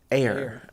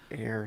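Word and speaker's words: heir: go from there uh IR says it's pronounce air ah dang it air sorry air air to the throne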